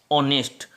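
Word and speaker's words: honest: जैसे हमने अगला वर्ड लिया है यहां पर ऑनेस्ट अब यहां पर पहले टेस्ट दिया हुआ है लेकिन यह साइलेंट है इसलिए इसकी दो निगम को से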